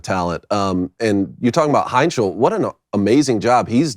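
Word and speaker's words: Heintschel: Mason Heinschel, for what he's done coming in at Pitt, and yes, I did pronounce that right, if anybody was wondering.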